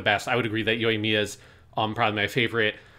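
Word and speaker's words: Yoimiya: say it wrong again yo mia there we go yo yo like good like yo and then mia like at me i don't know what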